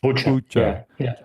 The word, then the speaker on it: Bucha: Is that how it's pronounced? Bucha.